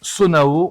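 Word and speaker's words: Zonaï: Donc Zelda prononce Sonao, on va prononcer Sonao, et se dire que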